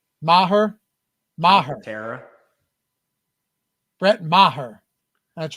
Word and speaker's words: Maher: Brett Maher.